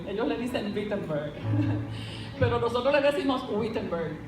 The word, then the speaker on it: Wittenberg: Y en esta universidad que queda en Alemania, que nosotros le decimos Wittenberg, y ellos pronuncian la W como B, ellos le dicen Wittenberg, pero nosotros le decimos Wittenberg.